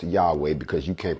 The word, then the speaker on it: Yahweh: that will not be named what is actually pronounced yahweh because you can't pronounce it without the vows